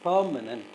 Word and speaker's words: permanent: Permanent. The first syllable is stressed. Permanent.